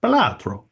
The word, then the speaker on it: Balatro: How to pronounce Balatro? Bele True. Okay, this says Balatro. Okay, well, modern Italian. Balatro.